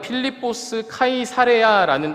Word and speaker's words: 필리포스 카이사레아: 이곳은 빌립보 가이사랴는 장소입니다 원래 발음은 필리포스 카이사레아 이름을 가진 지역입니다 보통 지역 장소 이름을